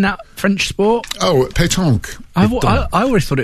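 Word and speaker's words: pétanque: that French sport oh Pon I I always thought it was platon no it's no l in it at all it's p uh e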